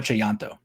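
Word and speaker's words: Tjahjanto: I was saying Chayanto because I took account of the J's, but it is Timo Chayanto.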